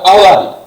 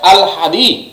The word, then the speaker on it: আহলাদি: এই যে একটা চরিত্র, এই চরিত্রের নাম হচ্ছে, তোমরা উচ্চারণ করলে বিভিন্নভাবে উচ্চারণ করবে আহলাদি, বাট আহলাদি না, শুদ্ধ উচ্চারণ হচ্ছে আল হাদি। আল হাদি শুদ্ধ উচ্চারণ এটা।